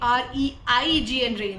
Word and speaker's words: reign: अच्छा, ये RAIN रेन नहीं है, ये REIGN रेन है. इसका मतलब होता है रूल या गवर्न. ध्यान रखना बेटा, प्रोनाउंसिएशन रेन है जो कि RAIN रेन वाले से मिल रहा है, इसीलिए ध्यान में